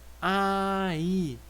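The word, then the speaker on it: 아이: Então, quando a gente pronuncia, a gente fala só ai, ai, que vai significar criança. Então, vejam que é o som do A mais o som do I. Ai, ai. Então, essa consoante que está aqui acompanhando cada uma das sílabas, ela não tem som nenhum, ela é neutra, né? Ela não tem nenhum som, ela não vai aparecer na nossa pronúncia.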